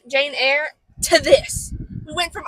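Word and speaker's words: Jane Eyre: of Dorian Gray Jane how do you pronounce Jane ear Jane air Jane Jane air to this we went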